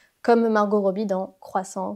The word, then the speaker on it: croissant: Là encore une fois, elle a prononcé le T alors qu'il ne faut pas le prononcer comme Margot Robbie dans Croissant, Croissante.